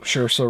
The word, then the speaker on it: Saoirse: But, and after Saoirse. It rhymes with inertia. That's right. After Saoirse Ronan was cast for